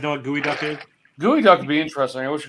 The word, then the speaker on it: geoduck: If you're reading it, it looks like it's geoduck, GEO duck, but it's pronounced gooey duck.